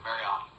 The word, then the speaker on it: Mariani: Am I pronouncing that right? Mariani? Mariani? Okay, Mariani. We want to get it right if we can.